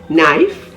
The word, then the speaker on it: knife: beginning of words like nak k-n-a-c-k knee k-n-e-e knife k-n-i-f-e knowledge k-n-o-w e and knob k n